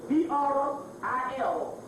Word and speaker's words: Vril: That's the book, and the virile is spelled V-R-I-L, Vril.